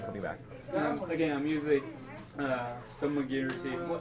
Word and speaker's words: thaumaturgy: Again, I'm using thaumaturgy. How do you pronounce it?